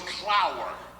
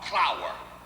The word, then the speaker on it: Clower: Their name was Clower. K-L-A-U-E-R, Clower. Now, when they got to this country, they kept pronouncing it the same, Clower, but they changed it to C-L-O-W-E-R.